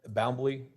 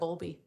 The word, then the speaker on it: Bowlby: Okay, and it's Bowlby. I'm mispronouncing that. Bowlby. Bowlby.